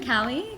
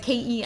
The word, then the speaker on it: Callie: That's how you Right, pronounce Cali. it. Exactly. Everyone thinks my name is Kelly, like Kelly. Right. But Callie. Cali. California. Cali.